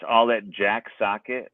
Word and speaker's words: Sochet: it's all that Jack socket my name is spelled differently than it pronounced its last name is